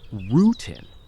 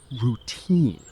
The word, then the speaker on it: routine: Let's slow down the word routine because many learners stress the wrong part of it. Good idea. It's not rootin, it's routine. The second part is stronger.